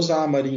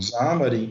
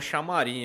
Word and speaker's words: Xamarin: O cara tem a pronúncia correta, é foda, né? Não é problema. Eu já ia mandar um chamarim aqui, mano. Eu também falo, mas me corrigiram, depois eu aprendi, mas...